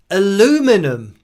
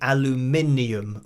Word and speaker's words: aluminium: And the different ways of saying things, like aluminum, or maybe in the USA you spell it differently, so there is actually spelt aluminum, so you're getting away with the aluminium, which is what it is here in the UK.